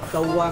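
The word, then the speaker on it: 豆腐: 福的话就豆湾就是当官的，豆腐。豆腐。豆湾嘅发音像係做官，真嘅动神奇呢。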